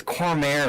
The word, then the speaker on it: Cormier: It's Cormier is how you say it. Cormier. You say Corier.